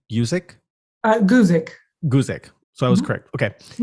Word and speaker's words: Guzik: Is that how you pronounce her name? Guzik?